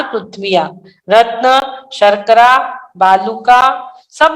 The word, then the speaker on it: रत्न: रतन शंकरा बालुका पंख धूम तमो महावितानम महतम प्रभा भूमियो धनाम्बु वाताकाशा प्रतिष्ठा सप्तोधोधा। सप्तो नहीं, सप्ताधोधा। सप्ताहादोधा, सप्ताह नहीं, सप्ताधोधा। सप्ताह दोधा, दोधा। हाँ रतन नहीं, रत्न शर्करा प्रथम जो शब्द है।